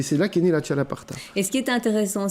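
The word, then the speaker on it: txalaparta: Il s'appelle le chalaparta, je crois. Exactement. Que je prononce bien. Vous parlez basque. Ouais, c'est fait. Donc c'est le X des ch.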